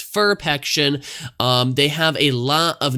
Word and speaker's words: Ferpection: is for PEC ssin I know it's kind of a weird you know name to pronounce cuz you want to say perfection but it's ferp action they have a lot